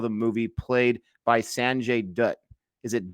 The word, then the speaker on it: Dutt: I had a hard time with our lead for the first little while of the movie, played by Sanjay Dutt. Is it Dutt? Is that how you pronounce his last name?